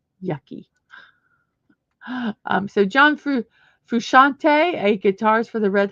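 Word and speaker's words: Frusciante: of who he is there is John fante fante is how you say his name fante okay and who is John fante he's a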